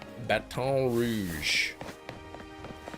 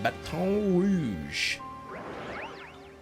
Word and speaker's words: Baton Rouge: Capital of Louisiana, Baton Rouge. Or is it pronounced Batton? I think Batton like rhymes with Batman. The American way. Yes. Not the proper French way.